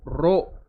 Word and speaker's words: rho: तो ये जो फॉर्मूला है R is equal to रो एल बाई ए, इसको प्रोनाउंस करते हैं RHO, रो, जबकि इसका नाम क्या है, resistivity only depends on material of the conductor.